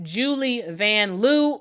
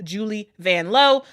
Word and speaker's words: Julie Vanloo: We learned during the Olympics that it actually is pronounced Julie Vanloo, but she is cool with us Americans pronouncing it the way that we pronounce it.